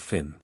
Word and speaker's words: Fionn: Finn, pronounced Fionn to rhyme with Tuan, got his first training among women.